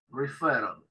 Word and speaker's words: referral: Fíjense que yo pronuncio con una sola R y hay dos R's escritas, ¿sí? Se pronuncia con una sola R. Es medio raro para nosotros, porque no, para nosotros una sola R, ellos dos R seguidas la pronuncian como una sola R y suave.